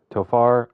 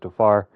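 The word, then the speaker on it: Tovar: we picked up mid-season Ezekiel to toar I think it's actually pronounced to far getting a little bit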